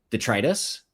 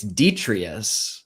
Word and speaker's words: detritus: And he was like, no, it's detrius. And I was like, it's assertively not because there is an extra T in there that you are leaving out.